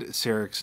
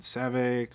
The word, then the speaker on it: Sarek: Firstly, I just want to start off this video by acknowledging that I said Sarek's name wrong in the last video. I think I said Savik or Servak or some.